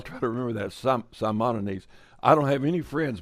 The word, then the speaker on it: Simonides: all right now i i just got a correction on the pronunciation is simonines okay so well i'll try to remember that some simonides i don't have any